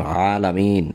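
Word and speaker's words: عالمين: আলামিন শব্দটা বহু বচন, এর এক বচন হচ্ছে আলম, আলমের বহু বচন হচ্ছে আলামিন, এটা আইন দ্বারা উচ্চারণ, আলামিন, আলহামদুলিল্লাহি রব্বিল আলামিন।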